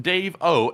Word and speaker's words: Davo: And this one goes to Davo once again who puts in a 10. He said, "My name is pronounced Dave O." So it's Davo and he said, "Still watching and supporting.